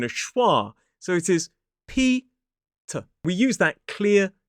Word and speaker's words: Peter: It is Peter. 2 syllables, stress on the first. P-E-T-A. Peter. So we don't pronounce the final R in this word as an isolated word.